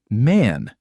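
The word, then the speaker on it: Mann: Man in German is man.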